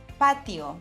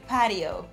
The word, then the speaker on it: patio: So now when you want to take your drinks al fresco, don't say that you want to go to a patio. Say patio. Pay attention to the way you're saying letter T.